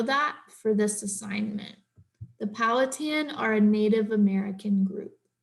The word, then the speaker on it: Powhatan: So let's look up how to pronounce that. Powhatan.